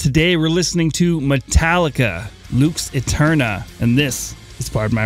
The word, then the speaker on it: Lux Aeterna: Luke's Aeterna.